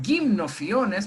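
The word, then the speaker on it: Gymnophiona: apodos o gymnos iones se pronunciaría kim nociones porque la sería como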